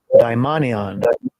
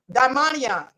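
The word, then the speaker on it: δαιμόνιον: So I want y'all to hear translated, the transliteration and the pronunciation of the word devil in Hebrew. Strong's G 1140, daimonion. So you all hear that, daimonion.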